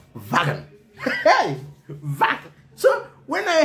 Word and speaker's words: Wagen: Guys, W-A-G in Afrikaner or German language is pronounced Wagen.